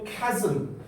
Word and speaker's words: chasm: 그러면서 따라오라고 했고 그들이 reached a deep chasm. 발음 좀 조심하세요. 이거 chasm이야. chasm. 알았죠?